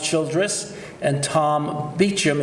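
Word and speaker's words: Beauchamp: the philosophers Childress it's pronounced Childress and Tom beat Jim it's pronounced beat Jim even though it's Vibhushan published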